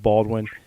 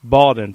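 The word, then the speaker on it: Bawden: then Nick Baldwin bitten I know I said that name wrong but not Baldwin Nick baldon for the the fullback if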